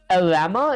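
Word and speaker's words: Llama: Your game sends the player message to an AI model like Open AI, cla or lama is how you pronounce it.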